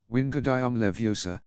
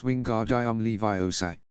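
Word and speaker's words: Wingardium Leviosa: arms like a windmill you're saying it wrong Harry heard heray on E snap it's Wingard I am Levi say make the gun nice and long you do it then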